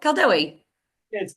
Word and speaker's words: Kaldewei: you pronounce it Paul C it's CI yeah CI yeah true because it's it's a German brand so I will go